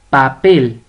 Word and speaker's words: papel: Papel, papel. Tiene la mayor fuerza de voz en pel, en la última sílaba.